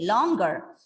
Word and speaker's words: longer: See, dear students, this word is pronounced as longer. It's an information. Longer. So even I used to think that it is longer, but we are wrong. The word has got the g sound.